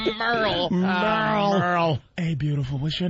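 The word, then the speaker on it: Merle: There is no way this is Merrill because it's M E R L E.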